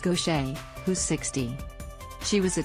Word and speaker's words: Gauthier: a second career for gautier pronounced gaucher who's 60.